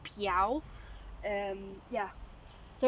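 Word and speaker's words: Pixiu: some some people probably pronounce it it's actually pronounced piao um yeah so it's like a little dragon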